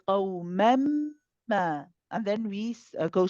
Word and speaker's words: قوما: Just try to think about where your tongue, back of the tongue is going for the qaf, because we don't say ka ka ka. It wants to be more back in the throat.